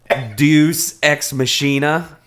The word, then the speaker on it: Deus ex machina: From now on, I will make sure that I pronounce it correctly. Dune Sex Mockingbird. Deus Ex Machina.